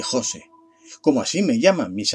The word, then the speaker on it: Jose: o debería de llamarte pronunció mi nombre sin el acento ortográfico y s el prosódico en la o de Jose Como así me llaman